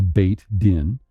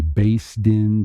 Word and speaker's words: Beit Din: So it says a Beth, actually Beit Din. Romanized is Beit Din, is literally a house of judgment. So the Ashkenazim are going to say Beis Din because they have a different pronunciation.